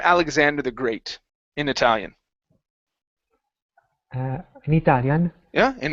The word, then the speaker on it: Italia: start with vowels because in Italy you don't say heia you don't sayia right you say Italia yes okay it's e